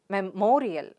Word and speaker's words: memorial: is memorial so again words ending with the suffix ial have stress on the syllable preceding the suffix so what's the suffix ial let me mark it for you and what's a syllable before ial it's mor so where does the stress fall the stress is on me sound there so it's memorial memorial get it repeat